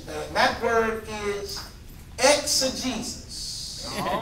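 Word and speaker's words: exegesis: it's it's it's ex a Jesus let me spell it for you e ex e g e s i s ex Jesus mhm this is a word that I first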